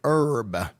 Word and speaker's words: herb: Terracone is an herb. The H is silent.